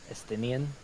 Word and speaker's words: Estinian: Estinian.